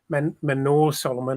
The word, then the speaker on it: Manor Solomon: should start and manason Manor Solomon I have to keep reminding myself that that is the correct pronouncing I'll be pronounce pronunciation of his name um but look our